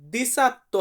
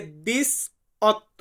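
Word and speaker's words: diciotto: বলা হয় দিস অত্য এটা কিন্তু দিসাত্ত্ব হবে না এটা হবে দিস অত্য আবারো বলতেছি দিস অত্য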